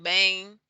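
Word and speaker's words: bem: on to the m m at the end of a word as we saw with tudo bang um and bong and also this other word here which is which means some it's soft it's like a soft n it's like a very soft m but it sounds closer to an n it's not a hard and like bond but it's a softer bong yeah and then we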